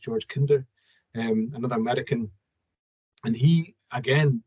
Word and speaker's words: Kinder: It's spelled George Kinder, but it's pronounced George Kinder, another American.